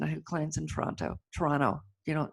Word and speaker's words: Toronto: who claims in Toronto Toronto you know you swallow the tea Toronto I get yelled up by locals you don't say it right I'm sorry Toronto and